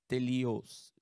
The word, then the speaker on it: teleios: The Greek word is teleios.